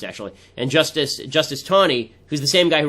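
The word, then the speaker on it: Taney: there is a judge and Justice named Roger tany ton is how it's pronounced actually and justice justice Tony who's the same guy who wrote The Dread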